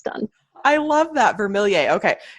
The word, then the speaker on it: Vermilyea: i like to say vermill throw your hands up me or say yay and that is how it's done i love that vermilie okay it's it sounds almost french maybe it's a it's